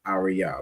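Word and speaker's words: אריה: Each of those letters pronounced fully. So the word is arya which is lion.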